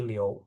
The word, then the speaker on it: Liu: Itu sebenarnya bacanya Mandarinnya Liou ya. Liu gitu bukan Liu tapi Liou.